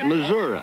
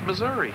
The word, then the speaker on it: Missouri: I call it Missouri our governor calls it loser oh it's Missouri of course Missouri Missouri well it spelled the way it's spelled and everything it's Missouri chazy damn it